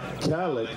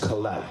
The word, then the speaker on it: Kalak: And it's not Calic, it's Kalak.